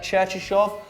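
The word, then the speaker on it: Cherchesov: So Stanislav, how do you pronounce that second name? Cherchishov.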